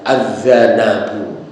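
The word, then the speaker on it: الذنب: itu dalam bahasa Arab Ada kata lain yang hurufnya sama tetapi cara bacanya berbeda kalau ini cara membacanya azzanbu Nah yang satu lagi adalah azzanabu nah itu kalau azzanbu artinya adalah alitmu yaitu ee dosa Kalau adzanabu itu artinya adalah ekor atau buntut dari hewan nah menurut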